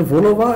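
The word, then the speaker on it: vol-au-vent: तो बेकरी एक पेस्ट्री वाला आइटम हो गया, तो ये इसको वोलोवा बोलते हैं, puff pastry case filled with Sewri fillings.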